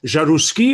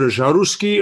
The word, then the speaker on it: Jaroussky: that's my first question jarusky or jarrowski or how do you say your name oh it's a russian name but it's we can get the french pronunciation it's javascript yes all